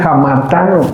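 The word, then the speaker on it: ἁμαρτάνω: En nuestra pronunciación sería hamartano.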